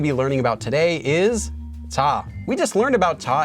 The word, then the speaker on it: 字: we're going to be learning about today is ta we just learned about taw in the last